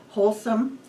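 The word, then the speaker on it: Holcim: two giant cement companies wholesome I think that's how it's pronounced it's spelled h o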